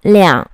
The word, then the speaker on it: 两: Vậy khi nào đọc là lẻng, khi nào đọc là er? Số 2 sẽ được đọc là er khi nó là số đếm. Ví dụ, 12, 20. Và sẽ được đọc là lẻng khi là số lượng đứng trước lượng từ.